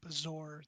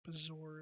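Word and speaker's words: bezoar: negative condition all right bizarre that's how you say it bizarre it's like a dried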